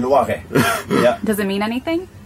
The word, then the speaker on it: Loiret: Is that how you pronounce it? Loiret. Loiret.